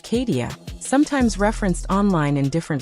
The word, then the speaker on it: Kadecia: To be clear, the pronunciation is Kadecia, sometimes referenced online in different variations, but the central figure remains the same.